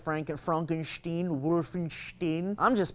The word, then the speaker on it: Wolfenstein: or Wolfenstein whatever it's just like Franken Frankenstein Wolfenstein I'm just pronounced it the way it's meant to be